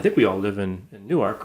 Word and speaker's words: Newark: it's new york and here in delaware we call it newark and people say that's not newark it's newark it's newark that's in jersey that's new jersey that's in jersey that's the newark international airport in newark new jersey uh here we just